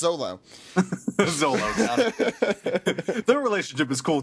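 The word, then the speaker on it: Zoro: and Kaa uh Kaa how do you it's pronounced Zolo Zolo their relationship is cool too but yeah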